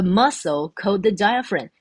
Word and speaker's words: diaphragm: 叫做 the diaphragm，这个字比较专业的单字哈，前面 dia dia 念 dia ph 发辅的音，好，所以 diaphragm 这个 g 它就不用发